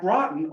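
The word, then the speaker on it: Groton: by New London is Groten at Grten also on the Thes River and before you laugh at me that's how they pronounce it laugh at Not me, the famous river.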